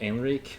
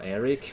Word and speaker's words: Henrique: Name is Brazilian, I didn't choose it, but I do pick like adaptations to make it easier for people to pronounce it. So Henrique or Eric, whatever rolls on your tongue.